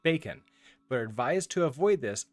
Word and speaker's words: BQN: in big questions notation you can pronounce it bacon but advise to avoid